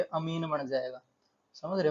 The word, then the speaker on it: amine: है ईन, तो ये अमीन बन जाएगा। समझ रहे हो, अमीन। इसको याद करने का तरीका अमीन, AMINE, अमीन।